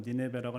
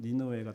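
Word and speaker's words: 니느웨: 보통 영어로는 니네베라고 하는데 히브리말로는 니누에가 더 정확한 발음인 같습니다.데 니누에가 등장을 합니다.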